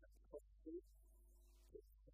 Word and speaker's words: Katkowski: My name is Katkowski, King's Council. Katkowski is spelled K-A-T-K-O-W-S-K-I. Three Ks in it, it's all very scary, but phonetically it's Kat-K-O-F-S-K-I. So you cough in the middle and you'll be fine.